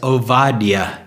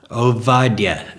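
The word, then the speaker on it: עובדיה: no B in the Hebrew language the pronunciation is ovadia ovadia servant of Yahweh so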